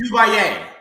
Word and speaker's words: Duvalier: It's Duvalier.